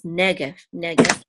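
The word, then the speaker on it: נגף: Good, and this tipcha right here tells you that the accent is on the first syllable, so it's negev.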